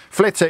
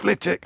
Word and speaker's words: Flitwick: made-up town invis or something like that or flitch apologies apologies to the good people of flitic I now get a million now I've looked at my screen now you've mentioned it it's pronounced flitic it's pronounced that tell James it's flitting it's